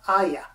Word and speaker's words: Ahya: about an upcoming book called the legend of ayah i thank god that right written by matthew calvis thought i mispronounced your name that's all right you actually